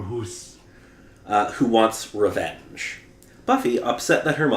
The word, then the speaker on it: Hus: he frees the spirit Hoos, I think is how you pronounce it, or Huss. Nah, I'd say more Hoos.